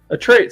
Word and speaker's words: Atreyu: Hannibal's son, how do you pronounce his name? Atreyu.